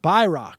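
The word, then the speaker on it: Bayrak: shortwave radio nerd I recognize the name bayrock pronounced bck it is the name of a former clandestine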